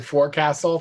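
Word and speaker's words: forecastle: In Canada we pronounce it for castle.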